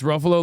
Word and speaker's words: Ruffalo: It's Ruffalo like Buffalo, guys.